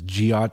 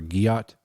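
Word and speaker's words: gyatt: guot g y a I had to verify the pronunciation because I wasn't sure if it was giot or guot right I would have guessed I don't know whatever yeah they said it's a hard G not J so it's it's Gat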